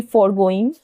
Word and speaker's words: forgoing: Next is, ये बहुत ध्यान दीजिएगा, एक तो मैं आपको अभी बता रही हूँ ये वर्ड FORGOING, फॉरगोइंग, और इसके नेक्स्ट में भी एक वर्ड है जिसको हम प्रोनाउंस करेंगे फॉरगोइंग ही, लेकिन वहां पे जो डिफरेंस जानते हैं क्या होगा? यहाँ पे है FORGOING और वहां पे होगा FOREGOING। ठीक है, ये वर्ब है